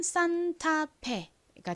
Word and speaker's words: 산타페: 보세요 어떻게 읽으면 될까요 가장 앞에가 왔어요 이렇게 단어의 가장 앞에가 오고 뒤에 자음이 아니라 었을 때에는 보통가 좀 세게 발음이 난다고 말씀드렸죠는 한국식으로 읽을 때 주로 아라고 읽고은 니은 받침으로 읽고요는 티 소리 a 또 아 소리 F n 프 소리가 나는데 한국식으로는 피흡으로 표기하고 2는 무슨 소리 나죠에 소리 나죠 연결해 보면 산타페가 됩니다 산타페이 산타페는 미국에 있는 한